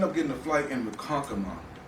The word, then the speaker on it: Ronkonkoma: I ended up getting a flight in Ronkonkoma. Did I say that right? Yeah, Ronkonkoma. Yes. Yeah, you said it right.